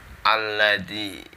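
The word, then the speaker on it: الَّذِي: Nazi yuwaswisu Fi sudurinnas alladzi itu diingat-ingat lamnya ada tasydidnya Jadi dibacanya double Hilya alladzi alladzi daya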